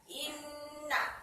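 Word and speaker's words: إنّ: Innallaha, inna. Ada lafaz inna masuk pada bacaan gunnah musyaddadah. Mengapa? Sebab ada nun di tasdid. Jadi bacanya seperti ini. Inna, tidak boleh ina.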